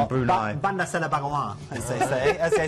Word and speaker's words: Bandar Seri Begawan: Bandar Seri Begawan in Brunei. Bandar Seri Begawan, as they say in the local twang.